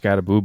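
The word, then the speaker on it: Skattebo: Is it Scataboo or Scatabau? Scataboo. I believe it that's pronounced Scataboo, but it's spelled Scatabau.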